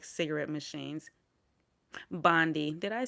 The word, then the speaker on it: Bondi: Bondi. Did I say Bilbo? Bondi. Bondi? Oh, Bondi, but it's pronounced Bond I.